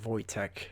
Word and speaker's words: Wojtek: It's actually supposed to be pronounced Wojtek.